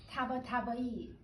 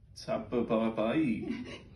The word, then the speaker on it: Tabatabai: Tabatabai. Tabatabai.